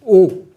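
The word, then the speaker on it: Haux: ou si on écrit en français, c'est O, H-A-U-X, Hawkes, ou Hawkes, Thomas Hawkes.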